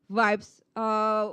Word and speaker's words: vibes: So it's vibes with the B at the end, not P. Because I hear someone said positive vibes.